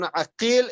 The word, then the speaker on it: عقيل: It's written the same, but in the pronunciation it's different. So you can see he gives the example, Muhammad ibn Aqil and Muhammad ibn Uqail.